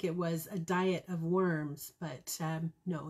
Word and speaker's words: Worms: was a diet of worms but um no it's a diet an assembly in forms if we give the german pronunciation worms the main event of